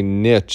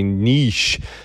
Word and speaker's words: niche: next sale, you know, a lot of people like to correct me when I say niche and tell me to say niche, but they're both proper pronunciations, and I'm more of a harder consonant kind of guy.